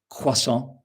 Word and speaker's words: croissant: So we have words like in English croissant in French quason. I hope my pronunciation is okay. Uh Sophie told me, "Do not pronounce the t at the end."